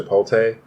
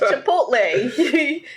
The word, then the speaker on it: Chipotle: When you go to Chipotle, why do you say it like that? Well, it's a different cheese. I'm sorry. I know. It's Chipotle. You added an extra T in there.